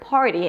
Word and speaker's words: party: It's a flap t. So it actually sounds like a d sound.